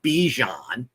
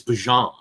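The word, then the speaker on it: Bijan: By the way, learned yesterday we've been saying his name wrong for two years. It's not Bejon, it's Bjon.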